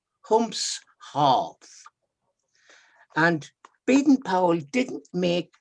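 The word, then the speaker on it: Humshaugh: it was the uh the pronunciation it's humph half humps half and beaten powell didn't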